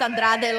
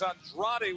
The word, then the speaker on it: Andrade: Says you have to pronounce Andrade like Wade Barrett does for this math match. I think he says Andra.